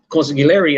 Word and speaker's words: consigliere: I say the G all the time.